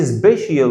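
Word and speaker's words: special: السي اي اي هنطقها شين، بس مش هقول سبيشال ولا هقول سوشيال ميديا، اسمها سوشيال ميديا.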